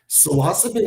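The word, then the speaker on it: psilocin: Silosin is the correct Latin pronunciation.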